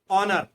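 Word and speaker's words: honour: Second है ऑनर। ठीक है, ऑनर में एच साइलेंट रहता है, फर्स्ट लेटर।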